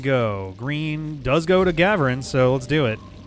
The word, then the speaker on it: Ghavoran: Green does go to Ghavoran, so let's do it. The solution to pronunciation in this game appears to be the emphasis is always on the first syllable whenever possible.